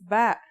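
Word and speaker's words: باء: Our first letter of this lesson is ba, and yeah, it makes a B sound.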